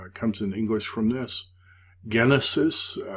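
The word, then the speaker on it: γένεσις: in English from this Genesis notice it's a hard G of course it gives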